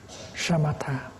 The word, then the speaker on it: shamatha: And the Buddhist term for stopping is shamatha. In Pali, samatha. With this, you pronounce like shamatha.